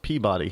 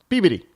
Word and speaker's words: Peabody: That's how you pronounce Peabody here in New England. Peabody.